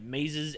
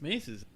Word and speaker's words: Maze's End: Today's cards are Bane of Bala And Maze's End. and I probably pronounced Bala wrong. Whatever. Probably. Is it Maze's End or the Maze's? I always call it Maze's. I'm pretty sure it's Mace's.